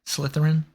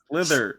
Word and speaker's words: Slytherin: Slytherin Slytherin Slytherin Slytherin Slither Slytherin Slytherin it's like a slithering snake Slytherin now that you've